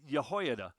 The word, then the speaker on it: Jehoiada: on with a man by the name of yahho Brian by the way great job pronouncing it um so uh by as I